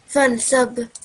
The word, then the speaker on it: فانصب: Just one hint, kalkala. You need to do kalkala. فانصب. Excellent, good. Yep. You need to give the ba a jerk because it's mute, and the ba is a letter haruful kalkala.